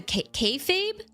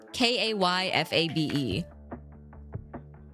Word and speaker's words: kayfabe: The kfabe kab. I don't know how to pronounce it. Um, it's spelled K A Y F A B E. Kabe. I said it right the first time.